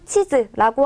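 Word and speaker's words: チーズ: 그래서 그냥 치즈라고 하게 되면 지도라는 뜻이 되지만 치즈라고 하면 먹는 치즈가 됩니다.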